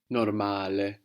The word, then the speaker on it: normale: So we have the O giving us an O sound, like in orange, and the A is pronounced A.